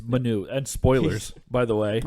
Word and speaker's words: Manu: It's Manu.